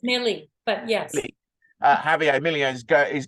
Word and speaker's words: Milei: visits that Javier Milei, how do you pronounce it? Milieu? I think it's Millie, but yes.